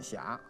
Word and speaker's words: 斜: ，如果它压在韵脚上，一定念霞啊，就是远上寒山石径斜，白云深处有人家，它就压上韵了啊。